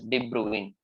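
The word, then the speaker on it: de Bruijn: why the name is pronounced as de Bruin so debruing Cycles these kind of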